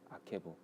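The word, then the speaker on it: עקב: 아케브.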